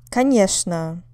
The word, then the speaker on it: конечно: Конечно. Конечно. Of course. On the second syllable.